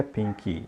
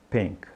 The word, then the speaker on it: pink: Mas a tendência que a gente tem é colocar esse I. Então não diga pink, diga pink, pink.